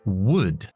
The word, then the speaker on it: would: Bien, otro verbo modal es condicional, que es would. Would, pronunciado exactamente igual que madera.